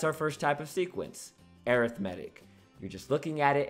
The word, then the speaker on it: arithmetic: a special name that special name is called arithmetic now i know this word looks like arithmetic but when we're talking about sequences we pronounce